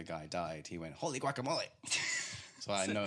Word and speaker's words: guacamole: Guacamole. Guacamole, like whack-a-mole.